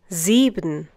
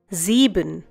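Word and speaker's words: sieben: and is followed by a wow it is pronounced as if it were the English C similarly in the next one zeben once again zeben a once again a no once again n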